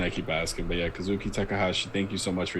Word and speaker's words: Kazuki Takahashi: So I'm glad we were able to share those in memory of Kazuki Takahashi, right?